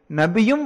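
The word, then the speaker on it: נביא: மறைவான விஷயத்தை அறிவித்தல் என்பதாகும் நபி என்ற சொல் அரபு மொழிக்கும் எபிரேய மொழிக்கும் பொதுவானதாகும் எபிரேய மொழியில் இந்தச் சொல் நாபி என்று உச்சரிக்கப்படுகின்றது இது நபா என்ற மூலச்சொல்லிலிருந்து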